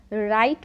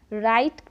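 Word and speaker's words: write: है तो व्यवसायीकरण नहीं किया जाता wi-fi अतिथि राइट पड़ते हैं इसे हम राइट पड़ते हैं है उसी तरह डब्ल्यू आर ओ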